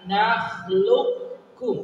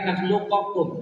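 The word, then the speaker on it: نخلقكم: Ya, alam nakhluqkum bukan nakhluqakum.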